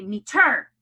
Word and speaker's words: meter: Do I say, now this is like parking meter, meter. Do I say meter or do I say meter? The first one, meter. So my accent is on the first syllable, no accent on the second, and I am ready to code.